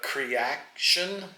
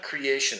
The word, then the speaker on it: Creaction: of jazz but anyway it's called uh creaction not creation it's Creation with a c in the middle creaction I think that's how you pronounce it anyway highly recommend it